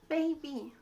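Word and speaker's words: 卑鄙: 얍삽하다 중국어로 베이비 베이비 이거 중고 발음이 베이비 영어 baby 발음이 좀 비슷한데 근데 완전 다른 뜻이에요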